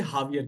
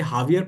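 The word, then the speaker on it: Javier: एक्स से भी होता है। एक्स से जेवियर कहते हैं, इसे हावियर कहते हैं। ठीक है। इसे हावियर पढ़ते हैं और एक्स वाला उसे जेवियर पढ़ते हैं।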